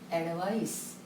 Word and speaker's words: advice: Difference in pronunciations also. This is advice. This is advise.